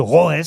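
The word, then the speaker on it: Roess: Ça a sonné chez monsieur Rouès. Ça s'écrit R-O-E-2-S, puisque vous ne me le demandez pas.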